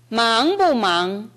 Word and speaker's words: 忙不忙: 忙不忙忙不忙. 네, 들어보시면 뭐가 다르냐면 아까 라이블라이 할 때는 뒤가 약했어요. 여기에서는 忙不忙忙不忙 해서 두 번째 忙이 살아납니다.